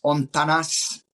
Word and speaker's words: Hontanas: Like Hontanas let's is do it. But recommend people stay, right? say again. Hontanas is a place you'd recommend people stay. Absolutely. And that's spelled Absolutely. Hontanas, Hontanas. Ontanas.